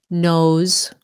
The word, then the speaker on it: nose: is blurry okay knows nose sounds like a z nose I had a runny